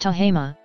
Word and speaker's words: Tehama: Tahoma, pronounced Tahama, was founded by Robert Hasty Thomes, who arrived in the area that is now Tahoma County in the company of Albert G.